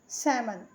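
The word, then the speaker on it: salmon: मतलब दीप होता है सैमन यल साइलेंट है यहां पे सेमन हिंदी मतलब होता है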